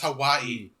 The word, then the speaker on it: Hawaii: was going to paradise and Hai that's pronounced Hawaii oh whatever and then later